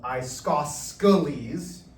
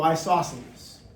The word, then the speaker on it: isosceles: Then we get to the third one, which is spelled isosceles, which is how I'll say it, but it's an isosceles triangle.